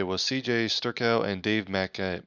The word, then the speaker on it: Mackay: cj sterkow and dave mackay mckay i think it's pronounced mckay cj starkel and dave